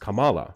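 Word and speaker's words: Kamala: Especially if you watch things like uh I remember watching Miss Marvel, you know, the Disney Plus Marvel series where it's pronounced Camala, right?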